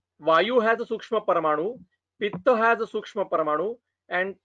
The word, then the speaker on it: Pitta: Vata, Pitta and Kapha. This is the proper pronunciation.